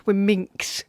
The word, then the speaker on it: womxn: That's when it's spelled WOMXN, it's wominks.